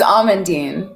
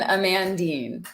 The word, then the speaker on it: Amandine: of completely different uh-oh it's almondine it's not that different that's funny that's that's so much better almondine i know it's better than amandine absolutely okay um okay